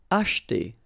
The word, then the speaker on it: acheter: Acheter. Same thing here, we don't insist on this so acheter, acheter.